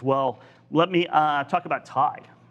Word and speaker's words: Tai: If you are a freight broker or a 3PL trying to expand quickly, TIE offers unmatched speed and scalability. So you can go to TIE, it's spelled TAI, and that's TIE TMS.